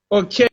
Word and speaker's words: Okeyinfu: So please, madam, is Okeyinfu, or how do you pronounce that name? Okeyinfu.